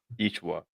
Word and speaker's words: Yeshua: Yeshua.